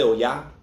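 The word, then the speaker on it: Oya: sound like o-j-a or ja or um so oh yeah emphasis on the hey um also some people will say you know yeah most people say oh yeah um but some people say oh it's your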